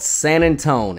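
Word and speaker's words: San Antonio: On February 23rd, 1836, in a small town called San Antone, and yes, that is how you pronounce it if you're from here, the forces of the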